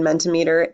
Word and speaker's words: Mentimeter: amongst your students again Mendte meter is a free resource that you can sign up for and it spelled like centimeter with a capital m